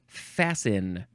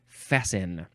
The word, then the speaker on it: fasten: Next is fasten. Fast with an ET, but you don't pronounce the T. You say fasten for some reason.